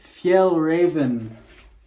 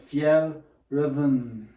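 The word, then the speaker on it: Fjällräven: got a pair of Fel Raven That's how you pronounce it Fel Ren uh shorts that's actually how you pronounce it if you check online uh if these were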